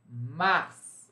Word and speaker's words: Mars: Mars. Aqui também a gente pronuncia o S. Bem excepcional, tá, gente? Não coloquem isso como se fosse uma regra, hein?